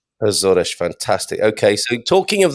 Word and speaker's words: Açores: known as the azores i i learned the the pronunciation when i first started thinking of moving here and pretty much here that's how everyone pronounces it a swordish zodesh fantastic okay so talking